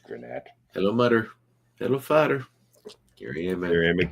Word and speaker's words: Granette: So the Granite that's I would say that's pronounced Granette.